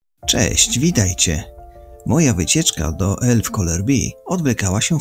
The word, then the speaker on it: Älvkarleby: Ustalono, że Elf Colour B, z naciskiem na Col.